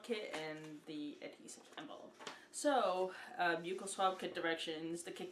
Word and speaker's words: buccal: the little swab kit and the adhesive so buccal swab kit directions the kit contains two buccal swabs that's pronounced buccal peel off the protective paper from the adhesive